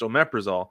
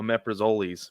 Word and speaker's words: omeprazole: It's pronounced omeprazole, but we used to call it omeprazoles because of how it's spelled.